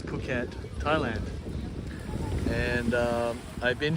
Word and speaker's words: Phuket: at K beach in puket no it's puket I keep well I stopped mispronouncing it this morning and I started again so the H is silent so it's pukat Thailand and uh I've